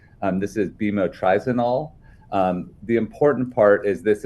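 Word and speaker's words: bemotrizinol: How do you pronounce that? Yes, many of these sunscreen ingredients have complicated names. This is bimotrizanol.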